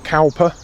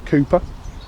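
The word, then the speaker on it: Cowper: 1700s a gentleman called cper although I've now discovered you have to pronounce it as Cooper and I'll read one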